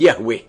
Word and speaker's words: Yahweh: himself as I am, which in Hebrew is pronounced Yahweh.